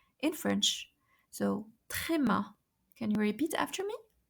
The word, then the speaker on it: tréma: So tréma.